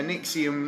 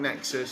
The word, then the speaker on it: NXIVM: Yeah, Nixium, not Nexus.